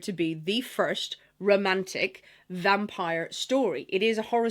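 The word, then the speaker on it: Vampyre: The vampir the vampire by John Bolydori. Now, I always say vampir because I'm hearing Lisa Simpson's voice in my head from Treehouse of Horror. Yes, vampir. But it is pronounced vampire.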